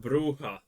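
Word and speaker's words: Brujah: of outcasts and punks bruja vampires rely heavily on their fists and physical abilities to deal damage up close I'm pretty sure it's pronounced bruha not not an expert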